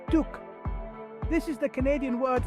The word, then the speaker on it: toque: conversation next we have the term talk pronounced Tuk this is the Canadian